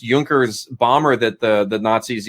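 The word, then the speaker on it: Junkers: researching that very specific I think it's pronounced juncker's bomber that the the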